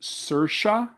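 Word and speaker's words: Saoirse: to a bad start is is her name pronounced sersha oh Sira Ronin Sira Ronin I mean she's she's a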